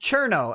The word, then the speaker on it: Cirno: shhh Chris Nemo says cirno is pronounced chirno fYI thank you and